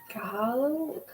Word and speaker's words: Kahlo: Dolores Hernerta, Eva Paron, Joan Baez, or Frido Kahlo. I can't remember how to pronounce her name.